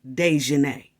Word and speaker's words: Daejhanae: She spelled them different on purpose, but it still pronounces Daejhanae.